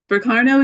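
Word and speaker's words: Berkano: Burkano is the Burkano. It's the accents on the first syllable.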